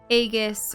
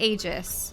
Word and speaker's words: Aegis: uh the thing is in Greek usually it's e for AE but I I always thought that I guess sounded really cool but then later on I started hearing it being pronounced as agus or Aegis I think Aegis for the most part I guess and I go okay Aegis that makes sense I've heard Aegis in